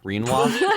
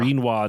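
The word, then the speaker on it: Rinoa: I just started pronouncing Renoa's name like quinoa. Reinoa.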